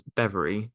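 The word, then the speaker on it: Bevere: is now known as bever spelled b v r e but pronounced like the word ever and it is made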